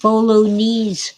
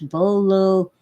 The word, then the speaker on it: bolognese: It isn't bolognese sauce. Italians hate it when Americans and British say that. It's bolognese, and that ties my tongue in a knot.